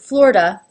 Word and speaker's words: Florida: Well, as you can see when I pronounce it, Florida, the I is not even pronounced at all. It's 2 syllables, flor, da.